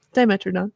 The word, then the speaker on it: Dimetrodon: a dimetrodon diameter of some kind is that pronounced dimetrodon okay yep and this is a bird i